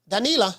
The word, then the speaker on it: Danila: know what I mean cuz in espanol the I is pronounced e danila danila Ramos um she